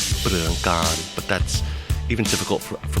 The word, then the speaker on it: Pruangkarn: And you said that's a decent Americanized pronunciation. Yes, I grew up in the U.S. and yeah, I've always used that. But when I came to Thailand, they finally said, "No, you're saying your name wrong. Your own name wrong. It's Pruangkarn."